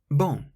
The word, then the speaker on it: bon: Bon. The N on the end is a nasal sound. If you say the word bong and then take the G away, bon, that's how you pronounce bon, meaning good.